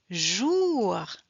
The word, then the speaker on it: jour: jour. Ah, we pronounce the R. On prononce le R.